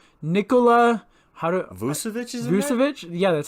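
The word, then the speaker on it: Vučević: Vucevic? Yeah, that's how you pronounce it, right?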